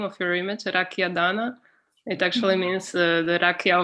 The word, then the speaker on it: Dana: It's Dana. Dana. But like they're getting confused. They do live in the US and yeah, they Americanize everything. Yeah. They think that it's Donna, like Donna, if you're saying Donna.